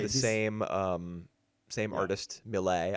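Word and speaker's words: milet: artist, Millet, I think is how you pronounce her name. The Right. T is silent, if I'm assuming I'm correct.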